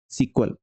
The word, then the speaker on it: SQL: अब इसका नाम जो है पहले SEQUEL सीक्वल था, अब इसका SQL हो गया है और सीक्वल ही पढ़ते हैं, इसको प्रोनाउंस करते हैं।